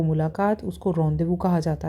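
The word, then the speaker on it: rendezvous: रॉन्डेजवस लिख रहा है आपको रेंडेजवस दिख तो ये रहा है, लेकिन उसको बोला क्या जाता है, रॉन्देवू।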